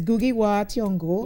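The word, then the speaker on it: Ngũgĩ wa Thiong'o: So it's Gugi Wa Thiong'o.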